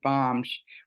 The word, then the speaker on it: balm: to be perfectly clear when Linda used the word bomb we spell that b l m gosh because the other